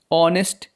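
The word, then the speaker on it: honest: इसी तरीके से जो हमारा अगला एग्जाम्पल है वह है ऑनेस्ट बॉय। ऑनेस्ट बॉय का स्पेलिंग एस से स्टार्ट हो रहा है लेकिन इसका प्रोनाउंसिएशन आ से स्टार्ट हो रहा है, इसलिए इसके पहले लगाएंगे एन।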